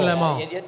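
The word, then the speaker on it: Le Mans: Tri did you say Leon Leon Le I went to Leon the the the N is silent I went to the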